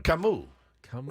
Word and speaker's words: Camus: because I don't think I've ever heard it pronounced correctly. Then Camus. Now I know. Like, I'm going to a fancy dinner tonight with my wife for our anniversary. I may order some Camus tonight.